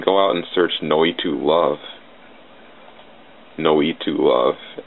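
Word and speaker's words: Noitu: go out and search no to love no to love n o i t wa no to this it's spelled it's Evolution spelled backwards with a break between the U and the L no we too love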